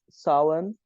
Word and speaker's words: Samhain: It's Samhain. Yeah, Samhain. You write it Yeah. as Samhain, but you say Samhain, and it's also called